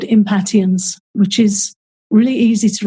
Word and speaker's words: impatiens: really helpful is called impatiens which is really easy to remember what it's for because to me it sounds a bit like impatience and here in the states it is pronounced impatience oh it is oh